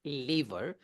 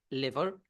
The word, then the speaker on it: lever: a li well I used to call it lever until my cousin who's also not an English